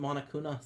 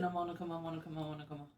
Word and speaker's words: Monokuma: No, I said it wrong the first time. I went Monokuna, so I was trying to fix it. Monokuma.